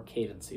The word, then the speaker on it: cadency: undereducation about heraldic candidacy, or cadency, depending on how you want to pronounce it. It's pronounced either way. I've heard people pronounce it both ways.